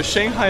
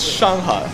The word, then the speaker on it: Shanghai: So Shanghai is the American way to say Shanghai. Oh, so it's not how you say it. So it's Shanghai.